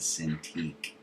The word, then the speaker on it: Cintiq: called a Wacom Cintiq it's actually Japanese word walk on the exciting pronounce it a sin to eat so Google that if